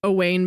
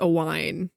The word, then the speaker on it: Aine: I always when I like I always want to say that the character's name is pronounced a Wayne, but I'm pretty sure it's a wine.